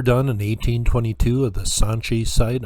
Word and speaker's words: Sanchi: in 1822 at the sanchi site i might have said staunchy at the beginning don't want to start mispronouncing things here is some art